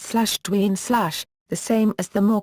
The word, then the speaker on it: Dwyane: His first name is pronounced /Dwayne/, the same as the more common spellings Dwayne and Dwayne.